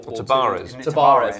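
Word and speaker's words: Tabárez: a number of you know players of four tarez tarez yeah that's correct pronunciation thank you Marcus but I think they'll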